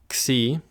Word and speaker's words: xi: Next is xi. Again, xi. This letter is pronounced like the X in fox, which hopefully won't be confusing